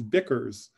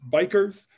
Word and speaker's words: BECCS: meeting was worried that in english this could also be read as bickers and to bicker is to argue um but but we think this is pronounced bikers um and my colleague